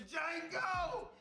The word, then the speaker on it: Django: to Django! You black son of a bitch! The D is silent here, baby.